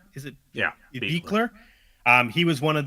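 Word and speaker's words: Buechler: Speaking of the effects, you brought him up already, Sean, but John Carl Beekler, I believe you pronounce, is it Yeah. Beekler.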